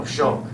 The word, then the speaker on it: Shulk: Rhymes with Hulk. Oh, Shulk. No. Shulk.